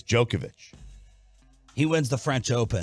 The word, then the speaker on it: Djokovic: the other one's jokic it's not even a ja it's a yo so I think it's jokovich he wins the french